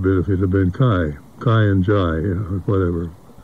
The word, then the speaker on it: Kai: and his name was Kai. That's the Danish pronunciation of K-A-I. And but in America and going to school and everything else, he was K-A-I became K. He was K Winding.